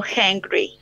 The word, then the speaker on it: hangry: Ahí hay una H que se aspira, se dice aspirada.